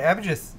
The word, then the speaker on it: Abhijith: We've also got a new order from oh my goodness, Abhijith. Oh, I got it right. Abhijith. He already said in chat right here that we got it right. Abijith.